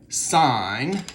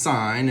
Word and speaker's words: sine: at x y then sine we pronounce this sign and it's spelled when it's a word sign but the symbol for it is sin but we say sine of theta sine of theta is